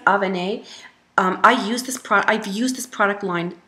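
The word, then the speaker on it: Avène: That is Avene. I think it's pronounced Avene.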